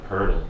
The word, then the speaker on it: Poeltl: Podol, Jakob Poeltl. That's how you say it.